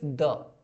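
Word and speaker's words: the: एक definite article, definite article मतलब सिर्फ द, जिसका प्रोनाउंसिएशन कभी द होता है, कभी दी होता है, कभी बड़ी दी।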